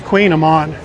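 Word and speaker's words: kouign-amann: A number of our members, Janet, Wendy, they have a problem with that pronunciation, but it's Queen Amman.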